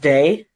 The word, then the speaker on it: Dei: letters of my name are like Dei but it's pronounced day and people would always